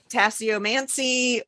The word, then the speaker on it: tasseomancy: Or also called tasseomancy or tasseomancy.